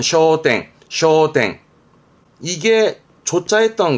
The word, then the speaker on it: 焦点: 발음은 쇼땡, 쇼땡.